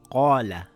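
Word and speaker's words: قال: So if the letter before it is a heavy letter the alif will have a heavy sound, for example we say the word the Qaala, Qaaf is a heavy letter, the alif also becomes heavy, it will make an aarr sound.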